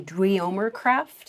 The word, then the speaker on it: Dweomercraft: DWEOMER. This is kind of what it sounds like.